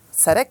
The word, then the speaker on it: CEREC: Tak ako by ste vysvetlili pacientovi, čo je to ten cerek? Dobre to vyslovujem? Cerek?